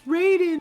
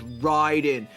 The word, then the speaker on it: Raiden: Um but yeah, I I always like, "Oh man, it's Raiden." But I didn't I I I was actually just thought I was mispronouncing it. And then everybody was like, "No, it's Ryden."